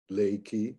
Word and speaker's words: Reiki: western approach to lake you notice i pronounce this word differently the japanese don't really have an r sound like we do in our western european languages but it's more like an l the tongue actually goes up touches the palate